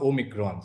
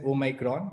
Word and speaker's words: Omicron: so people may pronounce it as omicron or omikron so we prefer to pronounce it as oh micron but both way it's fine uh i mean